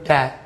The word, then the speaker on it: debt: B가 묵음이에요, 묵음. B가 묵음이어서 debt이라고 발음합니다. debt.